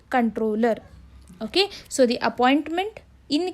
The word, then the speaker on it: comptroller: It is controller. It will be written as comptroller, but it should be pronounced as the controller.